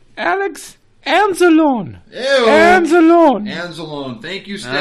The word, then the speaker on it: Anzalone: It was not Alex Anal Zone. Hey, Stat Boy, speaking of anal zones, hold on. I can see yours right now. Get a longer loincloth. All right, Stat Boy, how do you say it? Oh, you're not very nice, Mr. Lupagus. It's actually Alex Anzalone.